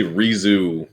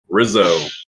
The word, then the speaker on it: Rissoux: did not just say re-zoo which you said i presume it's a french name so i pronounce it the french way rizzo yeah so okay brizzy